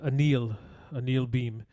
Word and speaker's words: Anil Bheem: Actually, last night watching the wake and so forth, it was known that he likes to go by the pronunciation of Anil Bheem is the name that he goes through.